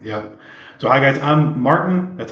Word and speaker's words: Maarten: So hi guys, I'm Maarten. That's how you pronounce the name.